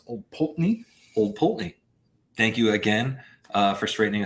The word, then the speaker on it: Old Pulteney: We learned how to pronounce Old Pulteney. Old Pulteney.